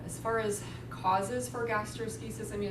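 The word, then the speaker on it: gastroschisis: formula like that okay the next one is gastrosis that's how it's pronounced gastrosis um so it's a congenital defect congenital means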